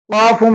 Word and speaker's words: ق: காஃபும் அடி தொண்டையில இருந்து எடுத்து சொல்லணும், காஃப்.